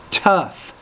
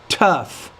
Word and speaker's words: tough: reading it is quite tough as BS you want to say tough you have to pronounce the T with more air tough tough are heavy so it